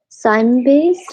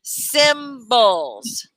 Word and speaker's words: cymbals: This is Sign bass, I think. I don't know. It's pronounced. I'm pronouncing right or not. That's pretty close. That's pretty close. Cymbals. Cymbals. Cymbals.